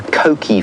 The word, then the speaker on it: Coqui: Coqui Franklin, and it's an onomatopoeic name.